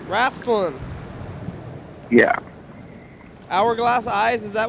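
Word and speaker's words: Raistlin: eyes of time what it means raslin yeah it's spelled yeah Racin r a i s t l i n raslin yeah hourglass eyes is that what it is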